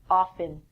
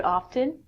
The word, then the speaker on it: often: choice from this lesson if you want to say often the T is silent that's perfect so when you're in